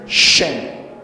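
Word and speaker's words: שם: diciendo la primera shem se escribe con las letras Shin y m y se dice shen traduce el nombre y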